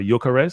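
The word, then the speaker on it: Gyökeres: what they call it, Okeres, even though the G, they say, or Jokeres, because the G is silent, Swedish.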